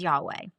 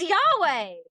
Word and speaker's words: Yahweh: And when you try to pronounce it, it's pronounced like you're you're inhaling and exhaling.